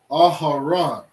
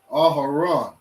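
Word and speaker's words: אהרן: We have ah, ha, ra, and a na, which in Hebrew we say Aharon. Okay? Aharon, which in English is Aaron.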